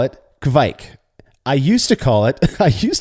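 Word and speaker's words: kveik: What do you call it? I call it kvik. I call it kvike.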